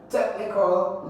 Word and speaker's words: technical: You have A, constructive, technical, necessary, plentiful. Constructive, when a word ends with what? IVE, you stress the second syllable, that is tive. Constructive, constructive. What about technical? Technical is the first syllable.